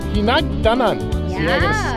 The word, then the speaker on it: Hinagdanan: So, how do you pronounce this? Hinagdanan.